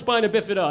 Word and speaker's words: spina bifida: Now, it's pronounced spina bifida, and the reason I say that is because